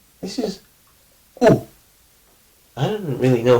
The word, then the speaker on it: ου: The sound U exists in Greek, but the letter U does not. This is like, it's not U. Like, U has kind of a nasal feeling to it. U. It's like U. It's very throat based.